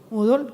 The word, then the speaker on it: Moodle: Hasta el momento en que se hizo el informe, la plataforma, ¿cómo se pronuncia? Moodle, gracias.